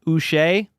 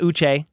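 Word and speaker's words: Uche: tra trade for Joshua us rhymes with bu that's how I got to remember it it's not uch it's um yeah you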